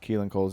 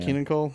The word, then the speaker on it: Keelan Cole: $1 for every time you mispronounced Keelan Cole's name, I would be a rich man. Keenan Cole?